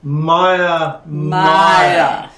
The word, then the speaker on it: Mire: It is very hard because you want to pronounce the R's in there, even though you're really not pronouncing it.